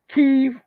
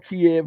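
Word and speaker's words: Kyiv: to what this says ke or Kev whichever way you want to pronounce it keev should increase its own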